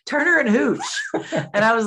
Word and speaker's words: Hooch: Because it rhymes Marla with smooch. Hooch.